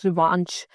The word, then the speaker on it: revanche: Also, this word rhyme with a particular word, revanche. Revanche basically rhymes with revenge, which also means that you're trying to recover whatever you have lost.